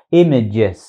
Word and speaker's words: image: ảnh những hình ảnh từ này đọc là image âm đầu tiên mình đọc là y đúng không Rồi tiếp theo đó các bạn đọc là y ngắn là image chứ Đừng thấy chữ a ở đây đọc là im nha Rồi dân kỹ thuật hay đọc là im lắm nhưng mà nó là image image image